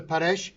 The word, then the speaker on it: Paresh: Paresh, am I pronouncing it right? Yes. Paresh?